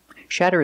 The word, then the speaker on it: shatter: talking about glass and we see the fast D sound again with a Double T making the fast D sound shatter shatter it's a verb